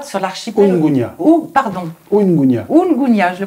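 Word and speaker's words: Unguja: Votre film se déroule sur l'île de Mugunya, sur l'archipel... Ungunya. Pardon. Ungunya. Ungunya, je le prononce mal. L'archipel de Zanzibar. C'est vrai que souvent, on parle de Zanzibar, c'est un archipel, et l'île principale s'appelle Ungunya.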